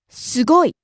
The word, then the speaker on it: すごい: 安い、安い、 Rising on the second syllable su, coming down on the last syllable i.